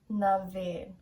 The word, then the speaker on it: na bhFiann: sha liv kanlik oran naveen so that funny looking word b h f i a n n is pronounced like vein basically the english word like the veins in your body bhf although very confusing